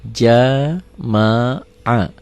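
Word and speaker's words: جَمَعَ: Berarti jim wa patah ja, mim wa patah ma, ain wa patah a. Dibacanya jadi jama'a.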